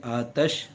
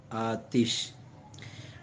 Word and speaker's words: آتش: کا لفظ ہے، اور تلفظ تو آتش میں تا کے اوپر زبر بھی پڑھ سکتے ہیں آتش، اور تا کے نیچے زیر بھی پڑھ سکتے ہیں آتش۔ مترادفات، اردو میں آگ،